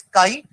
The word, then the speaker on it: chi: Pronounce तो यही कर रहे हैं ना, CHI भले उसकी स्पेलिंग होगी, बट प्रोनाउंस अपन KII काई कर रहे हैं, वरना वो करते तो चाई हो जाता है ना। तो द प्रोनाउंसिएशन इज काई, और थोड़ा एक्स जैसा